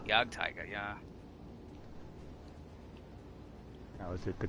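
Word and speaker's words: Jagdtiger: Jake Tiger. I mispronounced that name while streaming. I know it. I've done it multiple times, but yes, I know which Tiger tank you're talking about too. The Yag Tiger.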